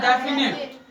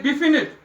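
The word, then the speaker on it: definite: Number 1 में हमने कहा था इट इज डेफिनिट। तो कुछ स्टूडेंट कहते हैं डिफिनिट, क्योंकि रॉन्ग प्रोनाउंसिएशन है। इट इज डेफिनिट, और डेफिनिट का मतलब क्या है?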